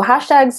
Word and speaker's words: Hshtags: So hashtags is, first off, it's spelled hashtags without the first A. So that's HSHTAGS. It is a platform for monitoring and tracking your hashtags across multiple social platforms.